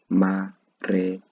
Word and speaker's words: Marekani: last part American be translated in Swahili to mare mare just bit by bit and then you can combine the whole of the pronunciation. Marekani marekani okay mh Another